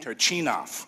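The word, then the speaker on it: Turchynov: Turchinov, is that how you say it? Turchinov, thank you for helping me. Turchinov, okay, excellent.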